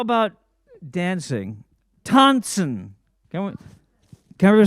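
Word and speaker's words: טאַנצן: Tanzen, so the English transliteration, T-A-N-T-S-N, and the S-N, you pronounce it kind of nasally, tanzen, not tanzen, but tanzen. Can we say tanzen?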